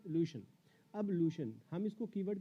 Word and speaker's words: ablution: था एज a homework, अब्लूशन। ये है वर्ड, स्पेलिंग आप चेक कर लीजिए, ABLUTION। इसका प्रोनाउंसिएशन या इनंसिएशन हम कहें तो अब्लूशन है, मतलब ब जो है वो आधा है, अब्लूशन अब्लूशन।